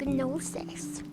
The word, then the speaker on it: gnosis: Evasive gnosis. The G is silent, but I like to put in the extra effort. Some days. Not all the time.